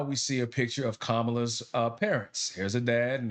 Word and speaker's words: Kamala: Notice I say Kamala, not Kamala, because her name is Kamala. That's how it's pronounced.